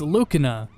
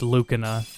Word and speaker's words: Lucina: Her name is pronounced Lucina instead of Lucina.